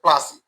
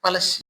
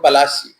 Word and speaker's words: Palashi: in 1757 at the Battle of Plassey. Sorry, Battle of Palashi. I have always wondered why we are taught to use such mispronunciations of foreigners, like Diamber for Udayamperu, Visak for Visakhapatnam, and here Plassey for Palashi.